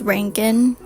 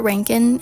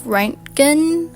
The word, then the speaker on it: Reintgen: Apparently, it's pronounced as Rankin, Scott Rankin, instead of Ranken, which was how I pronounced it earlier in a reading vlog.